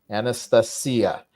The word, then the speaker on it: Anastasia: Anastasia. You have to remember with Russians, move the stress one vowel further than is natural for you on and just also, about everything.